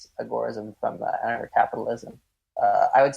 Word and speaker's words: agorism: So when Samuel Edward Konkin was talking about agorism, he typically pronounces it the same way that I do, which is with agorism, kind of a focus on the gore section.